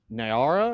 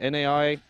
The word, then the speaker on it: Naira: Nigeria is going to be releasing its first CBDC here in just a couple days, called the Naira, I guess is how you would pronounce it, Naira.